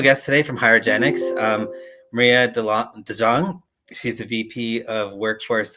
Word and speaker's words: DeJong: So just as a heads up, it's pronounced DeJong, Maria DeJong. Yeah, I apologize. It's a common Dutch name, maybe not a common US name.